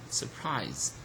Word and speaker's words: surprise: okay it remains unstressed surprise surprise so look at here it's again the second syllable is stress here okay and uh